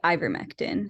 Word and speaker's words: ivermectin: back regarding these these questions yes also it's pronounced Ivermectin so if you hear it yeah thank you